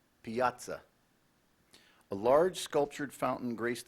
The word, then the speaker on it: piazza: fennel that is correct Piazza a large sculptured Fountain graced the center of the Piazza Piazza also pronounced Piazza language of origin this word came from Italian which formed it from a Latin word Piazza p-i-a-z-z-a Piazza that